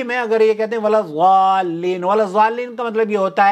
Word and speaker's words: الضالين: تو جن لوگوں نے نورانی قاعدہ یا کوئی اور سے قاعدے پڑھے ہیں، بھائی میرے ضاد کو ضاد پڑھنا چھوڑ دیں، ولضالین کہا کریں، ضاد سے پڑھا کریں، ضالین نہ کہیں.